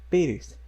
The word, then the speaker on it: Pérez: temos então a palavra Pérez, que na verdade é um sobrenome, né, em língua espanhola. Então, Pérez, Pérez, Pérez. A acentuação ocorre, então, na penúltima sílaba e ela é terminada em Z.